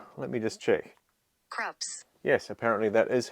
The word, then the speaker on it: Krups: Krups.